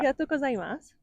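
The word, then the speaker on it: ありがとうございます: Arigatou gozaimasu.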